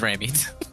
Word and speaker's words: Raimi: It's Raimi.